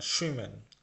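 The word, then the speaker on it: schwimmen: Cocaine মানে রান্না করা, জুইমেন মানে সুইমেন, সুইমেন, এটা জুইমেন না সুইমেন, এস সি এইচ, এস সি এইচ এর উচ্চারণ সবসময় বা বাংলায় আমরা যে স তালবস্য পড়ি সেই স হবে।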